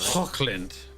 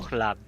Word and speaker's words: Hochland: Can please pronounce it properly? Hockland. Cock. Ugh. It's Do it, Cameron. no, no. It's Cockland? You want It's Cockland? Hochland. It's Hochland.